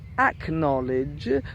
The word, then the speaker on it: acknowledge: yes I've understood you acknowledge which only really has an AC in front of it but then you do pronounce the K so what are other